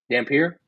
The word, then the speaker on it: Dampier: Like Devin Dampier or Damper? Dampier.